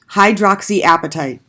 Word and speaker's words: hydroxyapatite: And I do want you to know this word, hydroxyapatite. And to pronounce it, I always just think